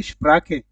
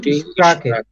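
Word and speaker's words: Sprache: তো এখান থেকে একটু শিখে ফেলি যে ল্যাঙ্গুয়েজ মানে ভাষা, এটাকে বলা হয় ডয়েচে স্প্রাখে।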